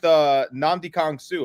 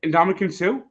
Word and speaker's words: Ndamukong Suh: I have the same problem with Nnamdi Kong Su. I can't say his name right. Yeah, Ndamukong Suh.